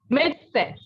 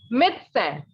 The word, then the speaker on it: médecin: What we call a doctor in French is médecin. Listen again, it is médecin. The sound of IN in French is un, right?